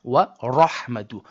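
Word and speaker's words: ورحمة: So, when you see the word wa rahmatu, you're going to say the raw with a heaviness and not with a flatness. So, do not say wa ra wa ra wa rahmatun. No, it's wa rahmatun.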